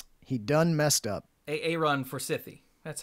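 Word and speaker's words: Forsythe: Aaron Forsythy.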